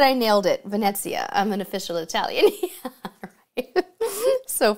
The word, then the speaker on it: Venezia: Marion said, you say the T that isn't there. Ah, Venezia. Venezia. Did I get it right, Drew?